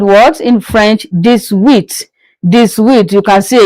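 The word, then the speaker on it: dix-huit: in English 18 is called what in French this width this width you can see again the 10 added with eight you have what you have 18 meaning this width.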